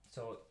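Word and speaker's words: С: So C letter in English, but in Russian, actually, it will be pronounced as S. S. So you're gonna say S, S.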